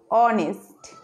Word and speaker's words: honest: what is the sound honest that means here it is light it is hidden ok we are pronouncing